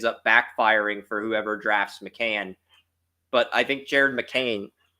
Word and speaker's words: McCain: love do basketball but Jared McCain pronounced mccan he's not that good